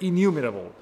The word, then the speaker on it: enumerable: ins work with innumerable if good way to pronounce the word say numerable how do you say that enumerable correct enumerable so for installs with innumerable properties on erase